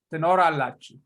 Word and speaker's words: ትኖራላችሁ: So you say t, count them. T, no, ra, la, chi, hu. Tenorallachu.